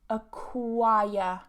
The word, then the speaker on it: acquire: And again, we're British, so we don't pronounce that R because we have a vowel before it. So normally, as I've repeated a million times, but I know some of you guys are new, If you have a vowel and an R together in the same syllable in British English, we don't pronounce that R. It gets removed.